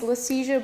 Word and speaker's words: Liesje: Uh for those who are a little confused about the name pronunciation um my name is Lesia Bluestone.